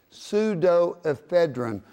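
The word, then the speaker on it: pseudoephedrine: of products have pseudophed it's pseudo aedon we spell it PS d o pseudo aedin because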